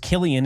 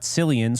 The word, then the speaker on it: Cillian: And so Cillian Murphy, who I just actually found out his name is pronounced Killian and not Cillian, so I've been saying that wrong pretty much his whole existence, that I've known he existed.